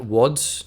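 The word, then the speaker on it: Łódź: lods I mean it would be like wads is that how you pronounce that because I know that that like L looking character with a slash through it is like a w like polish power janwa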